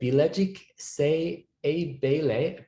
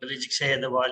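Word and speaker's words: Bilecik Şeyh Edebali: And joining us from the Bilecik Se Ebeyle, please correct me on my pronunciation, in Turkey, we've got Emre Can. Hello, Emre. Hello, Bilecik Şehir'de University.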